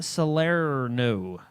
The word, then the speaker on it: Salerno: They set Shane Salerno to write the. That's how you have to say his name. Sorry, Shane Salerno. Salerno.